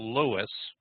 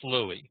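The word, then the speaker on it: Louis: he was uh called Lewis but it was pronounced Louie so everybody called it colonel Louie at that time which was the French pronunciation of what we would call Lewis uh he does have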